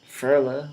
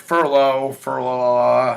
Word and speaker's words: Ferla: Ferla. What is that? Sicilian. Sicilian? I pronounced it correctly. Yeah. Ferla. People nice. want to add things to my name. They want to be like Furlough.